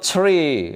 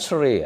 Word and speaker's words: three: Angka tiga itu tree. Eh, bukan three ya. Three. Kalau tree pohon.